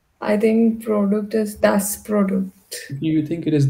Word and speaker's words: Produkt: Product is not product in German. So, Produkt. yeah, product. Yeah. Produkt. But then there the das. I think product is das Produkt.